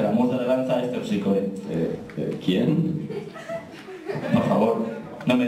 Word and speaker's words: Terpsícore: No, he dicho es Terpsícore. Ah, claro. Esther Piscor. Claro, ¿sabes lo que pasa? Es que esa es la pronunciación griega.